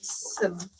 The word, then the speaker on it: Saberg: It finishes at 70 by 80 and it was designed and pieced by Saberg Saberg Saberg. I'm sorry if I mispronounced Sayberg. Sayberg, yes.